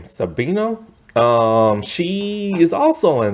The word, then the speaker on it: Sabino: sabino this is how you say her name sabino um she is also in this i was